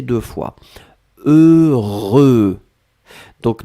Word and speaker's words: heureux: deux fois heureux donc ne ne regardez pas le h ne regardait pas le x ne regardait pas le eu juste fermer les yeux visualiser c'est cette combinaison heureux heureux et après vous allez voir c'est assez facile à prononcer deuxième chose concernant ce